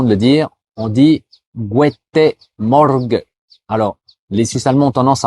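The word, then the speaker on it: Guete Morge: Et ben au lieu de dire Morgan, les Suisses allemands disent guete morg. Alors ils enlèvent le N à la fin. Donc je te le répète doucement. Gu morg et pour aller encore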